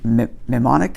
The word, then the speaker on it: mnemonic: which is called a mnemonic. Did I get the right word? Mnemonic, yeah. Mnemonic. You don't pronounce the M.